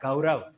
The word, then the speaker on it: गौरव: देखो गौरव में कौन सा स्वर गायब हो गया, औ, और हमने ओ लिख दिया है, जबकि गौरव होता है, गौरव।